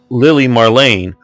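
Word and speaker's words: Lili Marleen: the pron ation and I've listened to Marina Dietrich singing it enough times both in English and German and it's Lily Marain and um is how it's said so he's the person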